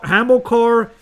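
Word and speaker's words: Hamilcar: start with the hammer and now you can pronounce it better a hammer Hamill core and war book are hamilkar was um Hannibal was like the Carthaginian general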